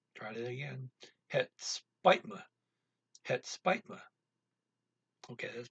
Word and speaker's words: het spijt me: Down in Belgium, you say het spijt me. Try that again. Het spijt me. That's better. Het spijt me. Here, what we're going to use is Northern Netherlands pronunciation.